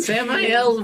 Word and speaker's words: Samael: But Samael rhymes with gel.